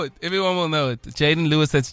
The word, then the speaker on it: Jaydon: everyone will know it everyone will know it Jaden Lewis that's j a y d o n